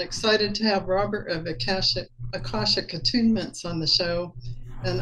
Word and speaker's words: Akashic: I'm sure you know how to pronounce it. Yeah. Akashic.